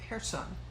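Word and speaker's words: Kherson: be cursing but the rest the uh ukrainians pronounce it hair sun okay and uh i'm gonna show off and pronounce it the ukrainian way okay now in here sun hershon is an island a little bit it makes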